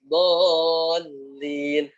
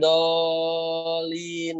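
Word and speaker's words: الضالين: Dallin. Bukan dolin, bukan, tapi waladdallin seperti itu ya.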